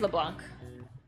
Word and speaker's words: Leblanc: you said that before you ran out of leblanc the first time like why do you have